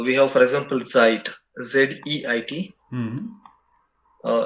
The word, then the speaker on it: Zeit: meaning is since yeah so this should be pronounced as zeit ah z-e-i-t like this yeah because uh uh